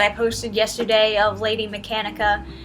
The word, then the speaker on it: Mechanica: posted yesterday of Lady Mechanica. I kept on saying Mechana. Yes, I know I'm saying her name wrong.